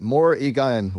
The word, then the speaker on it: Morrigan: I'd pronounce it Morrigan with the emphasis on the first syllable.